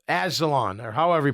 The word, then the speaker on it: Anzalone: But you see Rodriguez, you see I think it's Azalon, or however you pronounce it. Alex Anzalone.